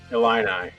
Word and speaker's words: Illini: Illini.